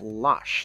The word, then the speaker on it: Losh: and lars or la it's losh it's pronounced lush not lars sorry um but they